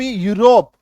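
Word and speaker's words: Europe: Next देखिए, जब किसी शब्द में ईयू आए तो ईयू का उच्चारण य में बड़ी उकार की मात्रा होती है।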